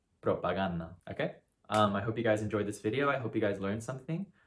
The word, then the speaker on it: propaganda: The correct pronunciation is propaganda, propaganda, okay?